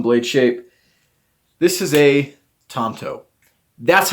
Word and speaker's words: tanto: the um pronunciation so the first one Tanto like that the second one I put this one just for fun but we had 5% of people vote for this and that's ton toe and then last well and then we had Tonto this is how I tried to write that out Tonto that's the way